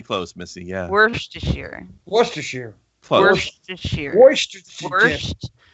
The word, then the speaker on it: Worcestershire: I swear, half the letters in that word don't get pronounced. Worcestershire. Worcestershire sauce. Worcestershire. Okay, that was actually pretty close, Missy. Yeah. Worcestershire. Close. Worcestershire.